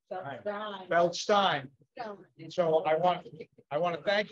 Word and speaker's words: Feldstein: And I say Feldstein and not Stein because I understand that's the correct pronunciation. Feldstein.